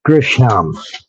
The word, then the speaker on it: Grisham: John Grissom. He might be. Might be. What was the writer's name? John Grissom. John Grisham.